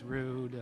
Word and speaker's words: Rud: a bonus to have a last name that rhymes with boo because we can always tell them no no they're saying your last name you know it's rude it's um i i